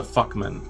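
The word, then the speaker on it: Fuchman: something on the lines of like it's the fuckman. So when I say fuckman, it's spelled f u c h m anan, but it's pronounced f u c km an.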